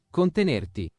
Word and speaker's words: contenerti: It's Contenerti. contenerti. Contenerti. Contenerti. So how do you say yourself? Contenerti. It's just like continent.